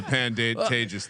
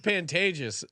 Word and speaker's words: Pantages: CJ is watching but CJ's pronunciation of the pandantages it's called Pantages and I've never heard anyone because CJ called it the Pantages which sounds like it